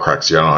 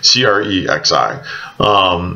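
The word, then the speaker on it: Crexi: posting on I caught cracks you're supposed to pronounce it CRE X I they usually use one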